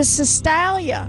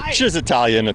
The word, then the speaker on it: Cisitalia: the owner of the Cistalia. Is that how we pronounce it? Well, I'll give you credit. It's Cisitalia. Cisitalia. It's more Italian.